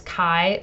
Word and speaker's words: Chi: Even though it's spelled "Chi," you pronounce it "Kai," like the word "sky," and that X there is the Greek letter "Kai."